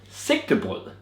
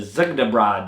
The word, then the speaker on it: Sigte: collab with a Trillium called sick and that's how you say it s not zad or whatever you guys in the states call it but it's a